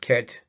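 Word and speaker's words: ḫt: The placenta is transliterated as KHT, pronounced ket.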